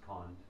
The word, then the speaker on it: Kond: The Orissan pronunciation is Kond, but the name is spelled Kanda, so I'll just use that term, Kanda.